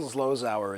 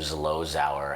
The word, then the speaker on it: Zlozower: The language that Neil Zlozower is capable of.